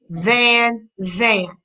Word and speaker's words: Van Zan: Debbie, it's pronounced the way it's spelled. Van Zan.